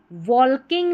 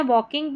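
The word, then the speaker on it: walking: द टाइगरर्स were वॉकिंग वॉल्किंग नहीं पढ़ना है। वॉकिंग पढ़ना है। एल साइलेंट है।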